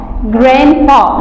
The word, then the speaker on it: grandpa: Grandpa لاحظوا هنا ان الليتر دي يعني مش ببينها قوي في النطق، مش بقول grandpa no، انا بقول grandpa.